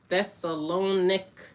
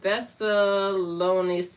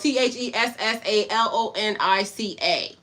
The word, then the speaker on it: Thessalonica: Now the brethren were of more noble character than those Thessalonic.